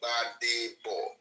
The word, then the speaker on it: Gbadebo: My name is Gbadebo. Badebo. Just 3 syllables. Badebo. 3 syllables there. Badebo. Badebo. It means, meaning, bring back the crown. Yes. Bring back the crown. The G is silent.